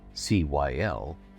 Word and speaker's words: Cyl: This time together, I'd like to tell you about a wealthy family of Neverwinter, House Cyl, spelled C-Y-L and pronounced Cyl as in windowsill.